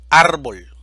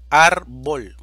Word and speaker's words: árbol: necesitamos escribir la tilde árbol división silábica árbol sílaba tónica ar es una palabra grave o llana y termina en una consonante diferente a n o s por lo tanto necesitamos marcarle la tilde a la vocal a difícil división silábica difícil